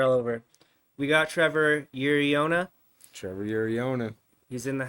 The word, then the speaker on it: Uriona: Well, you spelt it correctly. That's good. But it's Uriona. Uriona.